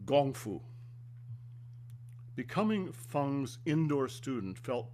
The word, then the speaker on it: gong fu: I'm pronouncing it gong fu, which is the Chinese pronunciation and the United States would call it kung fu. It's gong fu.